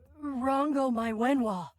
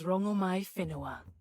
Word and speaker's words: Rongomai Whenua: Rango my Wenhua. What do I call you? My name alone will suffice. My name is Rongomai Whenua. Oh! We've been mispronouncing you the whole time.